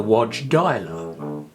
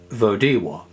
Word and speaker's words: Wodziwoda: Uh curiously, many people called her Wodzislaw, which was an absurd pronunciation that one used quite often. And of course it was Wodziwoda. So, her name in truth was Elzbieta Wodziwoda.